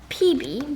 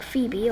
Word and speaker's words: Phoebe: And then Graham asks about Phoebe, or PB, because she doesn't say it like Phoebe, okay?